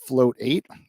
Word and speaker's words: float8: a little bit about float 8 and float8 it's like meditate oh I've been saying